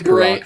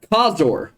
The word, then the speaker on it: Kazor: Kazor. Kazor. You just added an extra syllable.